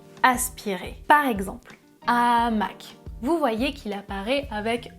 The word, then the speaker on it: hamac: Par exemple, hamac. Vous voyez qu'il apparaît avec un astérisque. Donc, je vais dire le hamac sans élision et au pluriel les hamacs sans liaison.